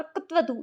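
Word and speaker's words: क्तवतु: तो इसका जो सही उच्चारण है वो होता है प्रत्यय कत्वतु प्रत्यय। तो इस तरीके से ये इसका शुद्ध उच्चारण है।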